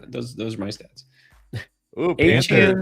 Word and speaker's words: Etienne: Travis Etienne, when he went to New Orleans, said his name is Etienne, is pronounced Etienne.